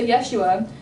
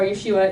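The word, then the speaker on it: ישוע: what the New Testament writers said and so Yeshua or Yeshua is how Jesus's name is pronounced in Hebrew and the term H conf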